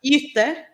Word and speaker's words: Jytte: So how do you pronounce that? Yitha. Wait, say it one time. Yitha?